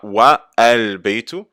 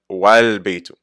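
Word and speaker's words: والبيت: On ne dit pas Wa al-Baytu, mais on ne prononce pas le Hamza al-Wasl et on fait juste dire Wal-Baytu.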